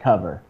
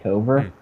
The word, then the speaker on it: Kover: dot ai okay uh pronounced like cover but after talking to something like 100 customers and 98 of them pronouncing it cover we decided that we